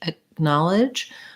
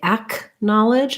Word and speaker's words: acknowledge: like a g so in acknowledge acknowledge the k is pronounced more as a stopped sound so i don't say ack knowledge i don't release the air but i also don't say g i don't say ag knowledge you could hear with